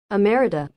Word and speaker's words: emerita: No, that's not how you say it, right? How do you say that? I know there's like a fancy Latin way of saying it, right? Pronunciation. Emerita. Emerita. There we go.